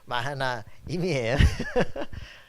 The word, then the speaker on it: 마하나임: 우리 교회 이름은 아직도 발음을 잘 못하시는 분들이 많은데 마하나임이에요.